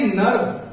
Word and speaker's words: nerve: तो वो साइलेंट हो जाती है, ठीक है। प्रोनाउंसिएशन सभी की होती है, वो आर जो है वो क्या हो जाती है? साइलेंट हो जाती है। तो इसलिए नर्व ठीक है, ये नर्व हो गया, ठीक है।